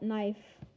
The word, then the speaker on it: knife: call it knife i i call it knife because the k is silent silent k oh my gosh it